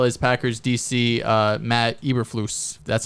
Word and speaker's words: Eberflus: quinn as well as packers dc uh matt eberflus that's how you pronounce it um one name i will want